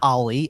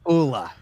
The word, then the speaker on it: Olle: and it is not Ollie, and it is not Ole. Is it Erle? Apparently, it's like Ula.